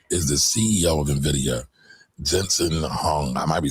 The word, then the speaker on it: Jensen Huang: Now, before we get going, that guy that she is talking about is the CEO of NVIDIA, Jensen Huang. I might be saying his name wrong.